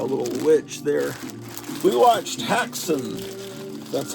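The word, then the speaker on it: Häxan: We watched Haxon. That's how it's pronounced.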